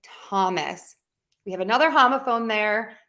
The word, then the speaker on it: Thomas: spell the T sound with a th like in the word time or in Thomas we have another homophone